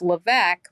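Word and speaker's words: Lévesque: of keeping separate is my last name is LC but it's spelled l e capital V is in victor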